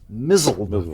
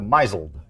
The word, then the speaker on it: misled: But of course, I'm the guy when I started in radio, I pronounced misled mizzled for two years and then I changed it to misled.